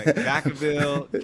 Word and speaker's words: Vacaville: Like Vaca, v a c a. It's really I think it means cow town in Spanish, but Vaca uh Vacaville, cow town.